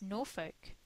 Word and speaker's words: Norfolk: said it wrong no it's Norfolk cuz that's how we say it here we've actually got that's